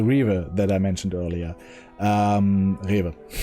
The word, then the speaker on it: Rewe: Rewe. I don't need to pronounce it English, and go there, or I go to the Edeka.